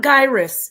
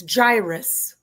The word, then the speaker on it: gyrus: It's, by the way, it's not gyrus, it's gyrus.